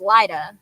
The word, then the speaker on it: Lyda: It's Lydia without an I, so it's Lyda.